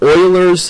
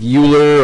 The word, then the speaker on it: Euler: thing I'm going to explain tonight it's called Oilers theorem I know it looks like uler or something like that or eer actually pronounced Oiler it's a German mathematician Oiler theorem